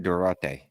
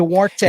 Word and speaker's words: Duarte: Durate. That's not how you pronounce that. whatever. Duarte.